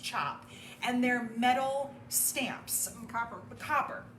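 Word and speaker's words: tjap: And these designs are made with something called a chop. It's pronounced chop. It does not look like that. It looks like T-Jap. It's T-J-A-P, but it's pronounced chop.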